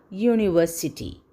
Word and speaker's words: university: for example here a university we see a u but we hear a consonant sound u another example a european